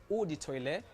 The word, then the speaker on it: eau de toilette: something something what's the difference i love the pronunciation but it's so it's called odi toilet and then you have woody perfume that is